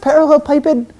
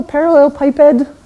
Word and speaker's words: parallelepiped: a parallel something so I think it's pronounced parallelepiped this is one of these words that have only ever read in English I don't say it very often so I think this is called a parallelepiped if we could get